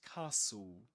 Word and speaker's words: castle: The trick is to pretend that it's spelled like this. Castle.